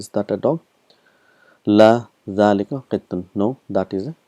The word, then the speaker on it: ذلك: So we've learned that hadha and dhalika is one of those words where it is pronounced but it is not written.